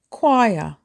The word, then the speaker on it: choir: Don't say choir, say choir. Choir is 1 syllable.